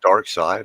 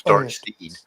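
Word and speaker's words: Darkseid: like oh my God it's dark side I thought it was dark seed me too oh was it spelled seed i e d right no e sorry yeah yeah it's not it's not pronounced as grammar would dictate yeah what if he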